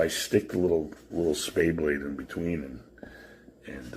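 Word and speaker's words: spey: Spay is spy apparently.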